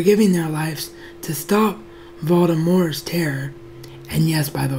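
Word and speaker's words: Voldemort: their lives to stop Baltimore's terror and yes by the way that is the right way to say his name if you're pronouncing the T you're actually doing your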